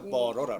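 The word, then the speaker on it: butter: 그래서 버러라. 버러 발음 그래서 버터 아니라 버러.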